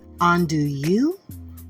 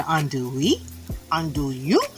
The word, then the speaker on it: andouille: Today we are going to make a wonderful omelet, everybody, but we're using this, how do you pronounce that? Andouille, Andouille, Andouille.